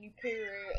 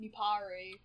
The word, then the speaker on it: Nuparu: anyway it was like I used to say Nuru instead of nuparu yeah I don't know